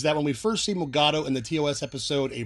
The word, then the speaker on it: Mugato: Did you know they have alternative pronunciations? Mugatu, Mugutu, and Gumato?